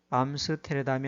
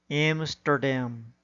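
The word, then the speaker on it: Amsterdam: 주어진 단어의 경우에도 인디애나폴리스가 아니라 인디애나폴리스, 사우디아라비아가 아니라 사우디아라비아, 암스테르담이 아니라 엠스터담, 리오데자네이로가 아니라 리오데자네이로, 소크라테스가 아니라 사크라테스, 오아시스가 아니라 오에이시스, 메르세데스가 아니라 머세디스로 발음해야 합니다.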